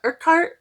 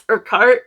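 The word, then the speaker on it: Urquhart: Um, and so I heard how her name is pronounced and I don't I was trying to add in that extra U and it's Urkart.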